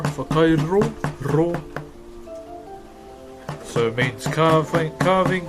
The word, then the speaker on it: whakairo: So WH is as a F for us. So far. So you can say FAR, far, Kai. So how you guys pronounce Kai, Kai. And RO, so Whakairo, so you slightly roll your R, Whakairo, raw.